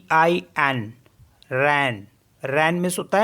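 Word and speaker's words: reine: मीस होता है 13 आर ई आई एन रन रन मीस होता है queen and एस ई आई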